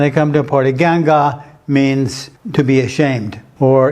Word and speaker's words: 尴尬: from Joe it's actually from Wong this character pronounced ganga it means to be embarrassed or to be